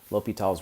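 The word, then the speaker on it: L'Hôpital's: so this is called l'hopital's rule so the way that you pronounce this low p tall l'hopital's rule suppose F and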